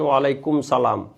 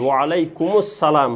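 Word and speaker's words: وعليكم السلام: যেমন কেউ বলল আসসালামু আলাইকুম, কিন্তু আপনি আলেম হয়ে জবাব দিচ্ছেন ওয়ালাইকুম সালাম। ওয়ালাইকুম সালাম এটা যদি হয় তাহলে তো আপনি উচ্চারণটাও শুদ্ধ হলো না, এবং এটা কেরাতগত দিক দিয়েও ভুল। ওয়ালাইকুমুস সালাম হবে শব্দটা।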